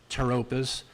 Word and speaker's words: pteropus: Now, the scientific name of this is Microsorum pteropus. Okay, it's got a P on it. P is PT, always makes the T sound. So this is Microsorum pteropus variety needle leaf.